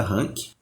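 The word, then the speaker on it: Hunk: Se escreve H N K se pronuncia rank.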